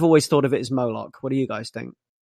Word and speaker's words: Moloch: thought of it as moloch what do you guys think i say moloch because it rhymes with bollock yeah that's not my